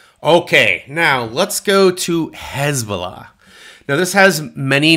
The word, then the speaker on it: Hezbollah: I'm going to pronounce it Hezbollah. That's how it's pronounced, right or wrongly, in the United States today.